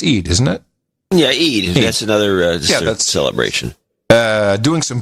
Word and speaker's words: Eid: How do I pronounce Hajj? Is it Eid? It's Eid, isn't it? Yeah, Eid.